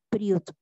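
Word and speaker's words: בריאות: La palabra salud en hebreo se pronuncia priut y se escribe, no me sé las letras, no las sabría decir.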